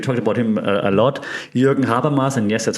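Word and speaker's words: Habermas: coin and we talked about him a lot jur haras and yes that's how you pronounce the name trusted German um that has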